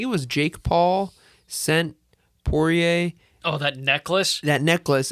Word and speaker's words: Poirier: wants to if um i always pronounce it poirier pourier yeah pourier gotcha if if he wants